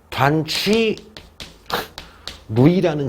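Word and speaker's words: 段祺瑞: 위안스카이가 죽은 다음에 얘네 부하들 장군들이 여러 파로 해가지고 싸우고 있었는데 그 중에 가장 센 애가 단취 루이라는 장군이 있어요. 내가 알기로는 한국식 이름이 단기선데 요거를 중국 발음으로 단취 루이인데 얘가 위안스카이 부하 장군인데 얘도 10만인데 요 단추리가 지금 현재 어디를 먹었어?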